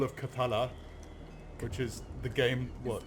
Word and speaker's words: Cthulhu: Cthulhu. It's called Cthulhu. Cthulhu. Fine then. I'm and I pronounce things properly.